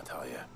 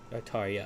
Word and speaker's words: Tarja: Oh, There Tarja. you are, Talia. Tarja, that's how you say it.